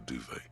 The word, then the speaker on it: duvet: some towels and a duvet some sucks even it's pronounced duvet I guess it's probably the same language as bidet then in the dark